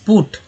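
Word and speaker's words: put: जबकि पुट में यू का उच्चारण है पुट, ऊ के रूप में।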